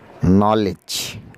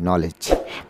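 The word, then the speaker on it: knowledge: নান, নলেজ, জ্ঞান, এখানেও কের উচ্চারণ নেই, নলেজ।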